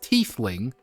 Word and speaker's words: tiefling: A tiefling, pronounced tiefling.